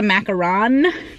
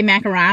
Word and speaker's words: macaron: a different thing but when I say macaron I kind of feel like a pretentious little a-hole which I'm not or am I I don't know I don't like saying it right because everyone says it wrong I just want to